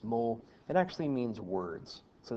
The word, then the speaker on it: mots: is titled vocabulary and this word looks like moths that's pronounced mole it actually means words